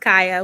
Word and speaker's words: Kaya: been your day today um it's it's been good my name is pronounced kaya we all have like weird spellings my siblings and i to our names but i'm kaya my brother is kaine